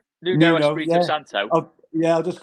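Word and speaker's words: Nuno Espírito Santo: But Espirito Santos, is that how you pronounce it with my pronunciation? Yeah, Nuno Espirito Santo.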